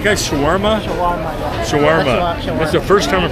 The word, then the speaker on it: shawarma: in ages so what do you guys say Sharma is that right am I saying that right guys Shawarma Sharm Shawarma that's the first time I pronounced it right